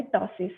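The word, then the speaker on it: ptosis: size next आता है टसिस what is टोटस P silent over यर स टसिस कौन सा कंडीशन है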